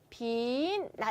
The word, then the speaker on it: 빛나: 그래서 빛나 같은 경우는 우리가 발음이 어떻게 됩니까? 빈나 이렇게 돼요.